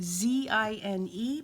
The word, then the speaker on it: zine: collab the zine collab z-i-n-e pronounced zine like magazine that's mostly for me